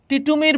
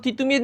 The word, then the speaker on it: তিতুমীর: টিটুমির বড্ড অসুবিধা আমরা একটু আগে পড়ছিলাম না দ এর উচ্চারণ ইংরেজরা ডি এর মত করে। কিসের মত করে? ডি এর মত করে। ওরা দ এর সুন্দর করে উচ্চারণ করতে পারে না। সেজন্য বা ত এর উচ্চারণ ওরা ত এর উচ্চারণ ওরা কিসের মত করে? টি এর মত করে। টিটুমির। সেজন্য তিতুমির না বলে টিটুমির বলতেছে।